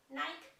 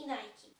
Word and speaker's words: Nike: zdarzają problemy na nazwą często słyszę dwa warianty jeden jest poprawny Nike i Nike poprawnie jest mówić Nike nikes nazwy tych dwóch